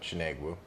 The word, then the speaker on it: Chinegwu: Oh, I usually don't even use it, but Chinegwu. Chinegwu. Yeah. Because I was going with a more Asian pronunciation.